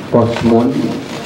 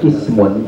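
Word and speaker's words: قسم: aja yang ada domatainnya, tapi bacanya harus pas, karena kalau dibaca kosmun atau dibaca kosamun ini maknanya jauh sekali, beda sekali. Bedanya kalau dibaca ismun tadi artinya adalah bagian, ya, satu bagian.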